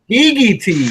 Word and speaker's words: Skegeetees: Skegeetees. Skegeetees. Skeegee, I just know. like because we call it Skeegee. That's short for Tuskegee.